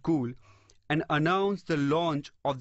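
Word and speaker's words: Cuil: or success the next company is cool it's pronounced cool but it spelled see you I else this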